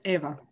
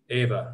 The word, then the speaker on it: Eva: Is it Eva or Ava? Because I'll butcher this. I know two little girls that are my daughter's friends. One's Eva and one's Ava. Spelled the same way. It's Ava.